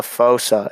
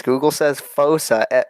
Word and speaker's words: fossa: So I was on some website, and then it was just a fossa, and I looked up how to pronounce it, and Google says fossa, like FOWSUH or something, and so I was